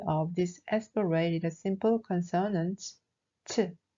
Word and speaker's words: ㅊ: It should always be pronounced with air, as if you are releasing the air from your mouth. Repeat after me. ch, ch.